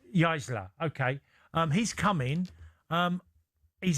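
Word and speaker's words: Jaissle: How do you pronounce his name again? Matthias Jaisler. Jaisler.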